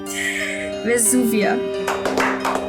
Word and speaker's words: Vesuvia: Vesuvia.